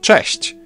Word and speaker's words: cześć: Now Polish ch is a bit harsher than its English counterpart, but there's also a comparable softer sound, ch. You can hear both in the word cześć. English version falls somewhere in between those two.